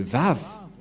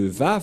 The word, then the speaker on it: Vav: J'espère que vous voyez bien maintenant que la prononciation de Vav, c'est V.